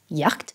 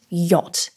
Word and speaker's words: yacht: might automatically think it's pronounced as Yak or maybe yed using English phonetics but the word is in fact yacht and if someone were